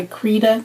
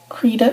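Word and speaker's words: Krida: accessibly the app is called my diary by creda creations creda is spelled k-r-i-d-a kilo romeo india delta alpha there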